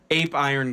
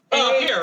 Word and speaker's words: Apeiron: Apeiron. I say A as in a heart. It must be pronounced Apeiron.